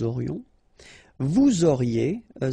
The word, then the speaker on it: aurions: Nous aurions, final S not pronounced, and then you've got this liaison, nous aurions.